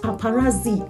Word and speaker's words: paparazzi: The next word is paparazzi. It is not paparazzi. Paparazzi.